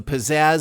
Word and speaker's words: pizzazz: not only that but the a and the second syllable can be said with the Wisconsin a the Philly the southern diphthong a ax or the British aw each way it said